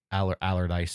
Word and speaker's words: Allerdyce: Allardyce. It's spelled strangely.